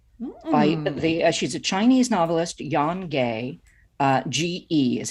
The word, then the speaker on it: Ge: She's a Chinese novelist, Yan Gay. Ge is how the last name is spelled.